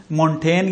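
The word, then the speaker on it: Montaigne: حتیٰ ایک اور جو ہے وہ شخصیت سامنے آئی جس کو مشل ڈی مونٹین یا مونٹینیا تلفظ کیا گیا ہے، اس کا مونٹینیا یا مونٹینی، مشل ڈی مونٹین یا مونٹینیا یا مونٹینی.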